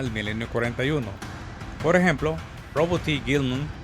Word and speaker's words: Roboute Guilliman: Por ejemplo, Robert T. Gilman, así es como se pronuncia por cierto, cuya resurrección en el